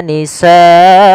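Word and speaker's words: نِسَاءَكُمْ: Nisaakum ada bacaan mad wajib muttasil yaitu pada lafal sanya. Di sini kita wajib memanjangkan sa sepanjang empat harakat sebagaimana lafal sua dan lafal abnaakum. Maka waastahyuna nisaakum.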